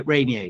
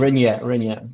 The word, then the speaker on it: Reynier: Yeah, yeah, I Mark pronounce Reynier. Yeah, Reynier. Yeah, exactly. Reynier.